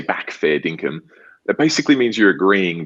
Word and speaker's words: fair dinkum: Fair dinkum. Pronounced perfectly.